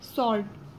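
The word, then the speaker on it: sword: जो साइलेंट बोलते हैं, जैसे कि इसमें W को हम साइलेंट बोलते हैं, जैसे सॉर्ट, और यहाँ पे रॉन्ग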